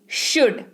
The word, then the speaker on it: should: SHOULD, शुड, यानी कि चाहिए। एल साइलेंट होता है तो आप उसका उच्चारण वहां पर नहीं करेंगे। Okay, शुड।